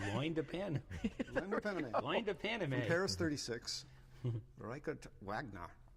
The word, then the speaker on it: Loin de Paname: How do you pronounce this, Brett? Just like it sounds, Loin de Pan. Lando Paname. Loin de Paname.